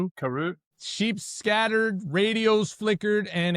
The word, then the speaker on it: Karoo: Karu. Karu.